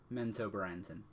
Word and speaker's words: Menzoberranzan: How do you pronounce the Drow city? Menzoberranzan.